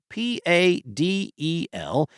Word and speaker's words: padel: maybe it's paddle, spelled p a d e l. Texans will likely pronounce the sport's name like paddle, though some in other parts of the country say it is padel.